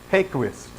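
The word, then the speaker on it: Häggkvist: Ron Graham and Roland hey Quist so I asked somebody from his country how it's pronounced and it's hey Quist okay every tree on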